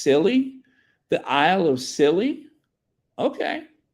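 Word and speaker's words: Scilly: Sealy silly is pronounced silly the Isle of silly okay that's the Isle of silly thank you I thought it was Sealy but it's silly okay the Isle of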